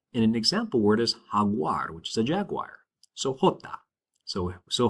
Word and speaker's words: jaguar: It's similar to the H in the word hut. And an example word is haguar, which is a jaguar.